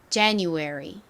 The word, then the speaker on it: January: 발음해 볼게요 January 좋습니다 강세는이 J 부분에 있습니다 한 번 더 해 볼게요 January 오케이 자 안 보고